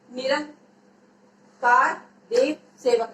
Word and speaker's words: निरंकार देव सेवक: निरंकार देव सेवक, इसका उच्चारण करो, निरंकार देव सेवक। ये ऊपर अनुस्वार लगा हुआ इसलिए अंग की मात्रा है।